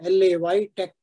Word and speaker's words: LaTeX: it first of all latex is I am calling it as latex so normally it is pronounced as l-a-y Tech day this is l